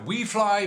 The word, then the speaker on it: Wfly: the wlfly et16s so wlfly we fly i think it should be pronounced we fly but okay whatever you whatever you want wlfly and et16s radio